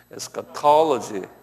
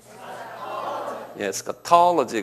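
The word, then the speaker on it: eschatology: 그래서 요 액센트가 어디냐면 에스카톨로지에 있어요. 톨로지 여기 한번 발음해 보실래요? 에스카톨로지.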